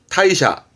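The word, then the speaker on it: 退社: 여러분 발음은 타이샤, 타이샤인데 퇴사라 함은 크게 두 개로 씁니다.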